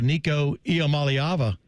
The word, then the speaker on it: Iamaleava: You know him best as, you know him best for a lot of stories, but breaking the Nico Iamaleava.